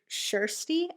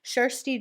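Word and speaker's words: Kjersti: r s t i i think kj in swedish is shh so shirsty i'm going to guess shirsty johnson a 17 year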